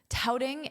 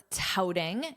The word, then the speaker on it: touting: Touting its tax cuts and funding for border security. Let's review the verb touting. Here it's in the ing form. Notice that pronunciation out. That's the vowel sound. Tout.